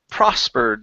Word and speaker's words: prospered: All right, let's go to the word prospered. The stress is here at the very beginning.